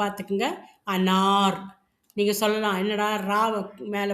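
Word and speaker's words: अनार: உச்சரிக்கும்போது பாத்துக்கங்க. அனார்.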